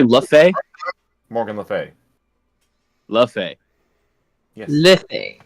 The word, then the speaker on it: Le Fay: Lafae.